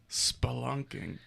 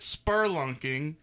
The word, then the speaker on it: spelunking: up splunking sp sp spelunking that makes sense of why it's spelled like that you read it it and then said you know what this pronounced spur I've always called it spur lunking right always I thought